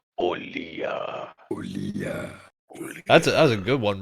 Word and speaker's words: Olija: The game that I picked is now that I know how it's pronounced, Olija.